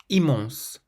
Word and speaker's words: immense: Immense, immense, means immense, so there's no nasal sound at the start of this word, immense, but there is one at the end.